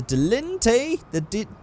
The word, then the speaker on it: Dilettante: So I'm going to go to the Dilettante. That's how you say it.